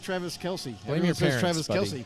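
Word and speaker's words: Kelce: second he goes uh travis kelsey is not my real name and the guy's like wait what he goes everybody knows you as travis kelsey he goes yeah actually my my father the real pronunciation is travis kels and uh he just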